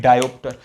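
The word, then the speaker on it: diopter: Capital D से indicate करते हैं और प्रोनाउंस करते हैं डायोप्टर।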